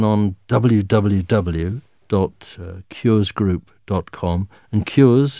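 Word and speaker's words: Qures: wwq group calm and cures is spelt qu r es so cures root cures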